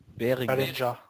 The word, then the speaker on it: Behringer: It's fucking Behringer or Beg Behringer. your pardon. Yes, it's cheap. How do I pronounce that? Behringer or Behringer or? Beringer.